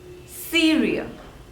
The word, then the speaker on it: Syria: Syria Syria there are two labels see real and the stress is on the first one cereal Syria Syria next is Tajikistan